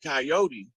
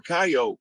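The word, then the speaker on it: Kiote: spelled that way and it sounds like coyote or coyote but it's a tribe it's not the animal so when they did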